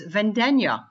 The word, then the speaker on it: Vendegna: But then I started studying Italian, and I learned that actually it's Vendegna, like lasagna.